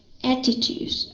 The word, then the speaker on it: attitude: word again right here attitudes okay uh we read this word in the united stat as attitudes attitude with the D sound okay it's attitude um